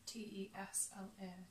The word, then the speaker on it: Tesla: Well, it is Tesla. Tesla. Right, okay. So people pronounce Yeah, it people- differently.